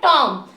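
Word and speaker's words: tomb: बी लिखा गया है लेकिन इसको बोलना कैसे है टॉम बी इसमें साइलेंट हो गया ध्यान की मैंने क्या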